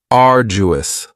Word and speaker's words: arduous: Now you don't hear that d sound that much. It's not very strong. It almost sounds a little like a J. Arduous.